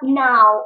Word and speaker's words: now: Слово now. Очень хитрое. Пишется О, а читается А. Now. Запишите звуки. Н. А. У. Н. А. У. Ударение вперед. Now.